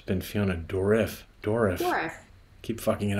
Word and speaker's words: Dourif: Dourif. Dourif. Fiona Dourif. Fiona Dourif. Yeah, well, Fiona Dourif. I like that. And thank you for coming on the show. I'm Patrick Bateman. And it's been Fiona Dourif.